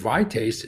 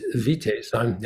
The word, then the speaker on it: Vitaes: of got started with vaste vaste I pronounce it both ways uh is that um